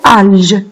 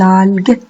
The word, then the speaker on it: algues: Et avec un GU. Hein, sinon, ça va se prononcer alge. Donc, faites attention en écrivant le son G. Les algues.